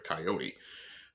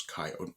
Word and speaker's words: coyote: a coyote of course she called it a coyote uh the proper pronunciation is coyote for those who don't know which is also why